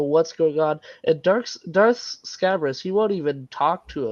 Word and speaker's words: Scabrous: I always said Scabrous, like a scab, but then Yeah, that's what it sounds like.